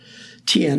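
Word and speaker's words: Thiền: Tien is the Vietnamese pronunciation.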